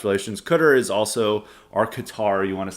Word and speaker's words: Qatar: a few other Gulf States then merging uh cter is not one of the Gulf States that's trying to normalize relations cter is also or Qatar you want to say I've always been told